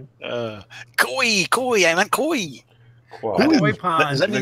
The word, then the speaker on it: koi: It wasn't that funny, or did I mispronounce qua pound? Is that how you pronounce it? Japanese quafish. Koi.